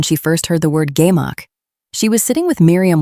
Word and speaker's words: gemach: A gemach, pronounced gemach, is a community lending fund on a principle almost too simple to believe.